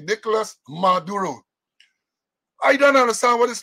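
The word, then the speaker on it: Nicolás Maduro: Got to pronounce it correctly. Nicolas Maduro.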